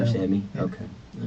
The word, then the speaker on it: Ramsawmy: Ramsawmy, the W sound. Ramsawmy.